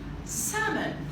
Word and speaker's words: salmon: We're going to put our hands and emphasis on how these words should absolutely be pronounced. Okay? Trying to decrease or remove the difficulties and provide comfort. Let's go. Salmon.